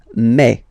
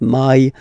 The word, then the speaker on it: mai: In French, remember, when you combine this A and then I vowels, you get the sound E, eh. So really open eh, okay? And then you pronounce it me, me. Okay, so don't pronounce e, don't try to pronounce it. No, it's me, me. So it's not my, it's me.